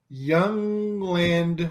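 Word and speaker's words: Jundland: out here in the Young Land wastes it's spelled like why you in l-a-n-d Young Land which is uh just fascinating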